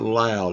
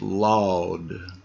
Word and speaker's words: laud: It's not loud, it's laud.